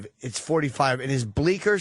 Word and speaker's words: Bleecker: The C is silent.